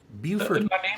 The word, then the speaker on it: Beaufort: you and you sir beaufort hayes correct yes tea for tea that's right am i saying correctly yes there's a lift in that first syllable there very well i i